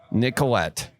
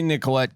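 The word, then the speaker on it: Nicolet: Nic a call 1855 Nicollet n yeah yeah I say nicholet cuz some people only if some people see a t they're pronouncing the T So for them folks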